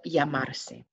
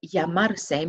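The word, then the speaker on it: llamarse: you can practice that remember that double l is pronounced as a y so that broken down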